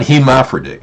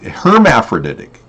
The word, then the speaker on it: hermaphroditic: like a hermaphrodite hermaphroditic you mean hermaphroditic not hhic hermaphroditic that is the correct pronunciation using the Latin roots hermaphroditic thank you boy